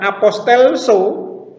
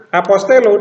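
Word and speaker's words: ἀποστελῶ: membedakan cara membacanya apostelo ini di diakhiri dengan lambda maka bukan apostelso tetapi apostelo dengan aksen Omega aksen sirkumpleks pada Omega ya jadi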